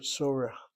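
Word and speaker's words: צורך: Well, since you don't have a textbook, the word sorech, the word for need, sorech. And I guess the point is you have the accent over the first syllable.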